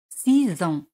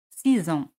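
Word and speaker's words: six ans: 6 ans. 6 ans. X se pronuncia Z. 6 ans.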